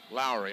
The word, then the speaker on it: Lowry: the side and uh lori is it laurier lowry it's lowry i keep mispronouncing that's